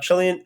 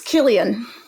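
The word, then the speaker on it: Cillian: Paul Jamati in The Holdovers, Chillian, how do I say his name? I believe it's Killian. All right, it's Killian Murphy.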